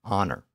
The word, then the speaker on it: honor: And now think about words like honor, honest, and hour, as in time of day. All of these words have an H at the beginning, which is also not pronounced.